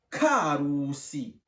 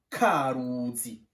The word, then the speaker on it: Karusi: On prononce Karusi. S'il vous plaît, on ne dit pas Karuzi. Non, ça Karuzi ne signifie rien. C'est Karusi. Parce qu'il y a le nom Roussi qui est là-dedans.